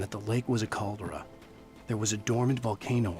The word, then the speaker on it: caldera: Caldera? I think that's... I mean, it's the same word in German because it's probably Latin. But the emphasis is on the second syllable, I think.